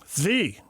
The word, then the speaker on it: Svi: I think a kid like uh Svi, is that how you say it? Svi.